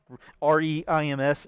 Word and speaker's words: Reims: REIMS is like France, but without the F in pronunciation. It's pronounced Reims.